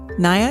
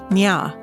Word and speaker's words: Nya: Nia is a girl from the Newair tribe. Among the new air, her name is pronounced Nya.